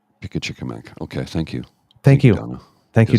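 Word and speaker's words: Pimicikamak: Oh, I'm getting a pronunciation check here. Pickachickamack. Pickachickamack.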